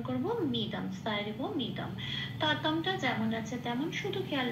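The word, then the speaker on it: ততম্: ততমটা যেমন আছে তেমন, শুধু খেয়াল রাখতে হবে যেহেতু এখানে ময় হসন্ত আছে ততম বলে উচ্চারিত হবে। হসন্ত থাকলে উচ্চারণটা, অক্ষরের উচ্চারণটা অর্ধ উচ্চারণ হয়, মানে ততম।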